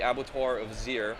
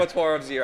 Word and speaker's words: Abattoir of Zir: But Abattoir of Zir, I believe, is how it's said.